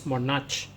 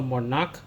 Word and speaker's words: monarch: So this one is not pronounced as monach. So monak butterflies in the sky.